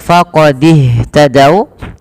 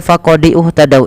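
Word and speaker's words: فَقَدِ اهْتَدَوا: Kemudian pada lafal faqadih tadau, ini hati-hati teman-teman, jangan membaca faqadiuh tadau, ini tanda ini tidak dibaca alifnya dan dia langsung disegerakan kepada huruf setelahnya, yaitu kepada huruf ha.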